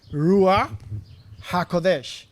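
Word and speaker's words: ruach: the hebrew and the joshua did and is pronouncing this rua and the the meaning is the spirit of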